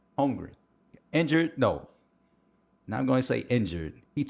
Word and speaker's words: Holmgren: Chet, how you pronounce his last name? Holmgren.